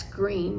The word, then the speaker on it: Greene: Greene, that's Greene with a silent E at the end, discovered that they were expecting a girl.